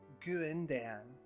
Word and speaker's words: Guindon: is Lillian Ashley Guindon it's pronounced GU in Dan she said ending with